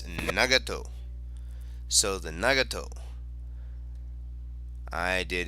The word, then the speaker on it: Nagato: you know I went to how do you pronounce uh this word and it's nagato so the nagato I did extremely extremely poorly